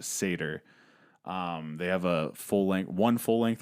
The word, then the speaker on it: Satyr: If you've not heard of them, it's spelled Satyr, pronounced Satyr.